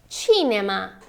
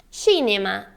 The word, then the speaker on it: cinema: e Tita você acertou em português nós temos o CEI com som de si como cinema cidade mais em italiano essa sílaba tem outro som então é cinema cinema e Tita Tita esteja